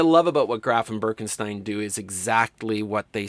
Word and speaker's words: Birkenstein: review, and they pronounce Birkenstein, and I would say Birkenstein because it looks like a German name to me, and you always go with the second vowel in German.